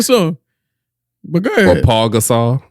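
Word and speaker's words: Pau Gasol: Or Paul Gasol. There's no L in his name.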